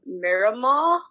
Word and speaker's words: Miramar: So on Xbox now, I'm going to pronounce this wrong. Miramar.